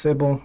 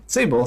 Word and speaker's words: Sable: I approached her and tell her my name is Sable. Sable sounds a lot like table.